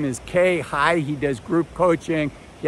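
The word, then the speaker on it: Khe Hy: His name is spelled unusually. His first name is K, K-H-E. His last name is High, H-Y.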